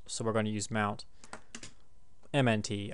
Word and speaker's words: mnt: we mounted route on mount so we're going to use mount MNT i pronounced it mount because that's what it stands for it's just mount -